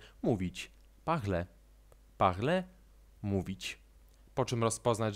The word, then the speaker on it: parler: "Parler". "Parler". Chodzi właśnie o tę końcówkę „er”, której, nawiasem mówiąc, nie wymawiamy w całości. Wymawiamy to po prostu jako „e”.